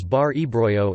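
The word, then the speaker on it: ܒܪ ܥܒܪܝܐ: was often referred to by the Syriac nickname Bari Braga Syriac Dirar bry which is pronounced and often transliterated as bari bro in the West Syriac dialect of the Syriac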